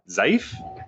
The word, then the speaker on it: Zaif: the Japanese exchange known as, I believe you pronounce it Zaif, Z-A-I-F, Zaif.